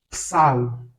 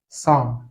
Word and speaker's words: psalm: Pour ces mots, le P n'est pas prononcé. Par exemple, ce mot, ce n'est pas psalm, c'est tout simplement psalm.